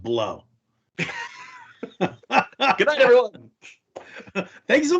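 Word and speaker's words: Blough: I think it's pronounced Blow.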